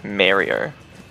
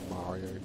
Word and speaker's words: Mario: with their photo mario some people say it like merrier what do you think of that that's the troll way to say mario it's in i mean